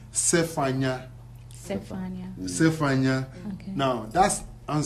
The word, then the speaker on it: Zephaniah: But in our dialect, you use words like that, Avaku, we use Zephaniah, the proper pronunciation is Zephaniah.